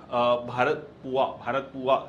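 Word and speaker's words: Bharathapuzha: Waterfalls, ठीक है, then भारत पुआ, ये पूजा या मतलब पुआ बोलते हैं इसको, यहाँ पर ये जेड साइलेंट रहता है।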